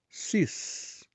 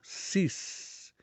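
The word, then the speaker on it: six: pronúncia a pronúncia é sis veja que a letra x no final ela tem um som semelhante ao s ou Z então fica sis como é que a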